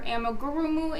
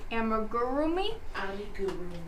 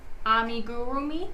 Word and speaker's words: amigurumi: stuffed dolls, crocheting, your amigurumu animals, and more. And by the way, that word I probably just butchered, amigurumi. Amigurumi. Did I do it? Amigurumi. There you go.